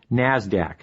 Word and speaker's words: NASDAQ: Stock Exchange nysse and the NASDAQ which is pronounced NASDAQ NASDAQ stands for the National Association of Securities